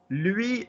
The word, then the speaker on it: lui: Remember, nice accent on the diphthong. Lui. Remember, lui in the middle. Spanish, wasn't it? Completely Spanish. Lui, no, because everybody uses L because you think of like L, like in Spanish.